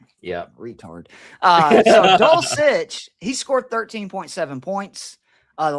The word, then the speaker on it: Dulcich: Dulcich. Yeah, retard. So Dulcich, he scored 13.7 points.